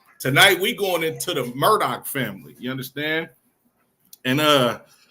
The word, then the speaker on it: Murdaugh: Thought I was pronouncing this wrong, too, but it's actually the Murdoch family, but not can be not to be confused with this Murdoch family.